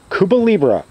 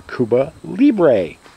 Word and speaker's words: Cuba Libre: taking a look at cuba libra or cuba libre depending on how people pronounce it i've heard it both ways and just uh for